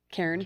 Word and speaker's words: cairn: That's how you say it. Cairn. Karen. Cairn. Always.